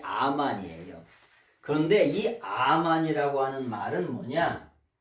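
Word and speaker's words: אמן: 말이냐면 아멘하고 아멘하고 비슷하죠 아멘의 원래 발음이 아만이에요 그런데이 암환이라고 하는 말은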